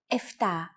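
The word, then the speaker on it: εφτά: Sometimes, though, especially in casual conversation, Greeks also use efta instead of epta, ochto instead of okto, and enea instead of enea.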